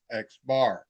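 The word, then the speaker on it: x̄: There's the sample arithmetic mean and it is given by this little x variable with a bar over it and it's pronounced as xbar.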